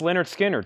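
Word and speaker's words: Lynyrd Skynyrd: full of this whole crates full of Essentials pronounce Leonard Skinner 36.99 new and sealed gatefold that is 36.99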